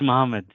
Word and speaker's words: Muhammad: Muhammad. Yeah, it's Muhammad. It's just that it's pronounced differently.